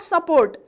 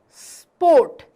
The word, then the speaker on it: sport: No, it's not support. It is sport.